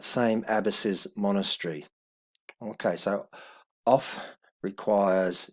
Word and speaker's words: of: abbasi's monastery okay so off requires even though we pronounce modern english of but in old english it would be off off requires a dative